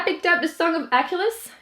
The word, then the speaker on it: Achilles: Is that how you say it in English? I hate whenever a name is different in different languages. It's so annoying. In French, you say Achille. So like Achilles is just weird.